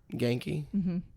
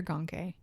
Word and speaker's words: Genki: Is it Genki or Gonke? Genki. Genki? Yeah. I read Grayson, one of our Spider-Man storybooks, and I mispronounced his name the whole time. Gonki. I said Gonke. No, no. It's just Genki. Genki.